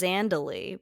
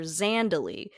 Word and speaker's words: Zandalee: They also can't decide how to pronounce Zandalee because Tari calls her Zandalee, but Nick Cage calls her Zondalee.